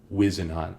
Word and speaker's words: Wisenhunt: We've been mispronouncing it. Whiz and Hunt. Like, you're taking a whiz.